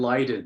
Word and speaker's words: Leiden: Exactly, Leiden. So thank you. So Leipzig, Marburg, and Leiden.